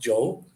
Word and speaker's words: yo: Like Joe, Y-O is pronounced Joe, or yeah, Joe vivo, V-I-V-O, aquí.